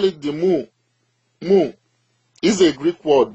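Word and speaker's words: μ: It is pronounced as mu. Mu.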